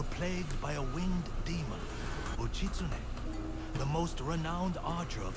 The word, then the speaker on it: Uchitsune: Oh, the story of Uchitsune awaits. Uchitsune, that's how you say it. Uchitsune. I mean, I was trying to pronounce it the other video, and like, I wasn't even trying.